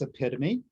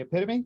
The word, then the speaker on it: epitome: We actually pronounce it as epitome. And how do we say it? And the student would say epitome, look at it and read it.